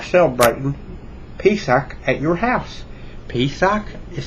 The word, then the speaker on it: Pesach: Pesach is spelled P-E-S-A-C-H, and it is Passover in Hebrew.